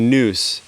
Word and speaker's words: NOUS: idea originally um the noose in as how it would be pronounced in ancient greek i simultaneously the way